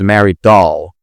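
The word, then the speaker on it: Dahl: her real name is Mary Doll, which you know rhymes with doll, right? It's not written doll O L, but it's written D A H L. But anyway, it rhymes with doll.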